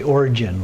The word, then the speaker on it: Orgyen: We also have the land of the Dakinis, Uddiyana or Orgyen. Some say Origin with a soft G there.